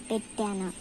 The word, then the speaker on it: పెట్టానా: As sound, as you pronounce A in a cap, so you have to pronounce here A like this, pettana. So the whole meaning is